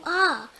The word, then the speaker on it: hour: The first R is HOUR, and again it has a silent letter H, and it is used for time.